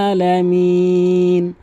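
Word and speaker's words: ٱلْعَٰلَمِينَ: রব্বিল আ এভাবে চাপ দিয়ে ভর দিয়ে আলহামদু আলহামদু আলহামদু না হয় রব্বিল আলামিন যেন না হয় বলতে হবে আলামিন এবং এখানে অবশ্যই তিন আলিফ টানবেন মিন তাহলে প্রথম আয়াতটি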